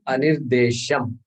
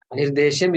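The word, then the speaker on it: अनिर्देश्यम्: Ye tu aksharam anirdesham. Ye tvaksharam anirdesham. Ye tvaksharam anirdesham. 8 syllables, correct? Yeah. 8 syllables. Okay. So we stopped exactly at that. Anirdeshyam. We stopped. Anirdeshyam is the actual word.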